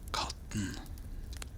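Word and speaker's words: katten: thing the cat but in Norwegian we say cotton so cat gets an ending kind to get like the cat is cotton.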